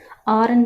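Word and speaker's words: hour: Okay, next ஹார் எப்படி pronounce பண்ணுவோம், ஆர்ன்னு தான் ப்ரொனவுன்ஸ் பண்ணுவோம். ஹெச் சவுண்டே வராதாங்க. ஸோ ஓ சவுண்ட் தான் வரும்.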